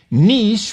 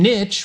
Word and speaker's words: niche: considered correct keep listening nich rhymes with shees and Niche rhymes with pitch Niche is is the